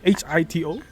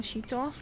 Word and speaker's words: Hito: Yes, so it's actually pronounced Shito. Shito. Yes. Oh, why HITO?